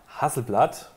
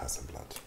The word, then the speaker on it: Hasselblad: Es heißt nicht Hasselblad. Oh. Es heißt ja auch nicht Hasselnussbaum. Stimmt auch wieder, ja. Es heißt Hasselblad. Ah, Hasselblad.